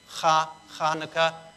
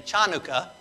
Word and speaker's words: Chanukah: that sound in english so it's kind of like an h so some will put the h in there but it does have more of a k hanukkah so some will spell it with a ch but then you got people saying chanukah and uh and so